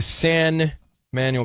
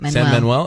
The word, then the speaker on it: San Manuel: the San Emanuel Casino. Manuel Manuel. San Manuel. Is that how you say it?